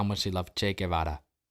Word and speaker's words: Che Guevara: how much they loved Che Guevara. You know, Che Guevara? Or Guevara? I think that's how you say it with an English accent.